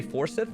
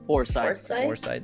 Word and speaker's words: Forsyth: totally getting new unit you say Forsyth it's how you say his name I always force our site Oh for site like almost like almost like for site got it sorry about